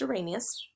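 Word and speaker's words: Arrhenius: it down okay let's talk about the definitions a rainiest is definition this is pronounced Irenaeus is that an acid gives a hydrogen ion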